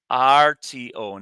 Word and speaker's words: cuarto: Be careful, that's close to the word cuatro, which means 4, but it's spelled differently. Cuarto, not TRO.